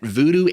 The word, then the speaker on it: voodoo: Quick note here, by the way, that voodoo and vodou are actually the same thing, they're just different pronunciations. Or should I say, different accepted pronunciations.